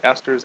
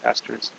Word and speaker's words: ester: Okay, ester, this is spelled a little bit different than Esther in the Bible there, E-S-T-H, or the ester, the name, but it's pronounced the same.